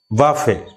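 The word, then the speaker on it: buffet: তাহলে এটা কিন্তু শেষের টিটা কিন্তু সাইলেন্ট।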